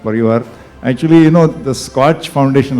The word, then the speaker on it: SKOCH: if you think of k is silent in fact one of the vertical things about the k is missing it's more a search